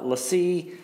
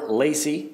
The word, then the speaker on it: LaCie: about two things primarily the lessee or LaCie depending on how you pronounce that I've heard it both ways but anyway the the